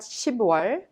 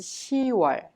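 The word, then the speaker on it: 시월: you are you are this is also the case for october it's not shibuya but it's shiwar it is much easier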